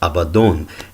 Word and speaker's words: Abaddon: maybe elsewhere and that the standard understanding of that word would be that it's pronounced Abaddon and about Donn they